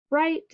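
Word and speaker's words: write: WR, W is silent, so we have super E, word is right, and then GN, G is silent, at the end, we have the word gnaw.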